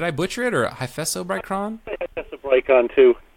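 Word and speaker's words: Hyphessobrycon: Hyphesobrychon too. Hyphesobrychon.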